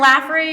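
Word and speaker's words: Lafferre: And then Laffery, you guys might know that's the engineering school. It is pronounced Laffery.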